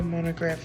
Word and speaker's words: monograph: And we also disagree about how to say words like monograph, because Mr. Hunman and I say it with an ah, In college, I started a monograph. but Mary says it with an aw.